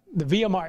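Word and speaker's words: Via Maris: I think, I don't know if it's Mari or Mare, or, but the Via Mar, it's M-A-R-I-S, but I know the S is silent. I think it's called the Via Mar.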